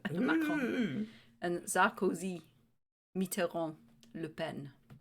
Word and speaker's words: Macron: Macron. Right, okay. Not even going to try. That's how you say it with a French accent. Macron.